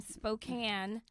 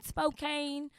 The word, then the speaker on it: Spokane: Yes, I just came from Spokane, Washington, and I realized that I was mispronouncing it. I was going Spokane, but yeah, Spokane.